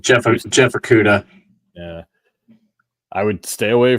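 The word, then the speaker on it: Okudah: Is that how you pronounce his last name? Jeff Okuda.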